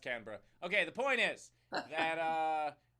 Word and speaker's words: Canberra: By the way, it's called Canberra. Anyway, so, or pronounced Canberra.